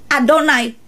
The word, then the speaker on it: Yahweh: Dikatakan dalam penulisannya memang Yahweh, tapi pengucapannya Adonai. Mana bisa hal itu terjadi, saudara? Tulisannya Yahweh yang keluar dari mulut dengan kata Adonai.